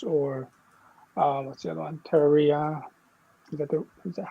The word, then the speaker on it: Terraria: Terraria. Is that how you say it? Terraria.